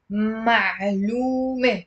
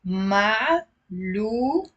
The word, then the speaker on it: معلومة: The next word for today is معلومة.